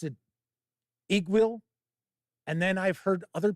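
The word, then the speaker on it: Iggwilv: With the V or without the V? Because I think most people pronounce it Igwil. It's Igwil, and the V is silent.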